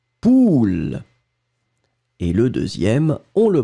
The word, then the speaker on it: poule: Le premier A, on va le prononcer très très rondement, ou, poule.